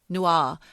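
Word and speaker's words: Newar: I don't know how you pronounce it. N-E-W-A-R. Nuar.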